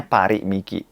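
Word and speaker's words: Paris Miki: dari Jepang Paris e nulisnya Paris Mikey tapi e bacanya pari mikei ada di pondok Inda Mall 3 pim 3 jadi teman-teman yang cari kacamata silakan mengunjungi parimiki Indonesia tanggal 29 29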